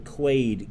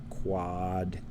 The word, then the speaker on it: Quaade: And this is called, I believe it's pronounced the Quade Gambit. Is it Quade or is it two A's? Quaade? Quade Gambit. I'm just going to go with Quade because I'm American and that's the way I speak.